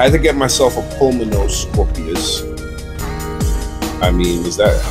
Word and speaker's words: Pulmonoscorpius: I had to get myself a Pulmonoscorpius. I mean, is that how? Pulmonoscorpius. Yeah, I did pronounce it right.